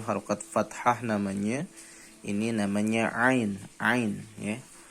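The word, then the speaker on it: عين: fathah namanya ini namanya Ain Ain ya pelafalannya makhorijul hurufnya diambil dari tenggorokan boleh nyoba ditarik cara bacanya di apa namanya ditekan Di dalam tenggorokan ya Ini namanya a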